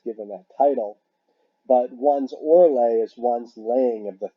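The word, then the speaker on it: orlag: And we have the word Orle. Now, it's spelled O-R-L-A-G, but the G is pronounced like a Y.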